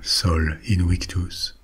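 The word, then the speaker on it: Sol Invictus: will tell you about Soul Invictus or Soul Invictus if we want to pronounce it like the ramens did Solin victus was the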